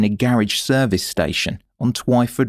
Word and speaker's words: Twyford: garage service station on Twyford (rhymes with why) Road in Eastleigh.